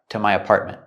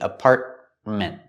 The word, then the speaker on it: apartment: With the word apartment, we have two T's. The first T in the middle is a stop T, apartment. Don't say apartment, apartment. And the T at the end is also a stop T, apartment. You can say apartment or apartment. You can pronounce the T, but usually we don't.